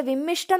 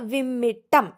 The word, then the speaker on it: വിമ്മിട്ടം: ചേർന്ന് പറഞ്ഞാൽ മധ്യാനം വിമ്മിട്ടം നമ്മൾ വിമ്മിഷ്ടം എന്നൊക്കെ പറയാറുണ്ട് വിമ്മിട്ടം വിമ്മിട്ടം എന്നാണ് ആ വാക്ക് മുഖാന്തരം ഏത് ഇന്തായാന്ന് നോക്കിക്കോണം